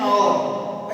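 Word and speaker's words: hour: अभी यहाँ पे देखिए एक्सेप्शन देखिए, एच हमेशा साइलेंट रहता है, तो ध्यान दीजिए एन और, एन और, एन एयर, एन एयर।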